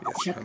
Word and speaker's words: japonais: Ouais, Yes, my japonais. mistake. So if it's male, japonais. And Oui, female, japonais. japonaise. Femelle, oui. Hein, So the japonais. S is silent here, but not silent here.